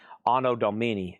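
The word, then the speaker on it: Anno Domini: And that is a $195 star pronounced Domini. Ano Domini.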